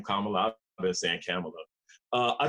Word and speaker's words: Kamala: kamala as i just learned now how to pronounce her name kamala that's an camelot uh i think she's tough